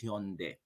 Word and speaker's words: Hyundai: say they they they call it instead of hyundai actually the pronunciation is hyundai it's not some song but some song all